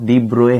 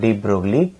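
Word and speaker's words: de Broglie: तो ये pronunciation student डी ब्रोए है, डी ब्रोए, नॉट डी ब्रोगली, pronunciation है डी ब्रोए।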